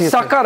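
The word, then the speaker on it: Sukkur: Sakar, not Sakar airport. Sucker airport. Yes. Uh the pronunciation is sucker.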